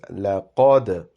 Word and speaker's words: لَقَدْ: So firstly, lam is plain, but qaf is pronounced with a round-shaped mouth, and dal has a qalqala. So the word is لَقَدْ.